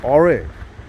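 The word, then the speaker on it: Aare: How you spell it? It's A-A-R-E. R. Oh, Ore.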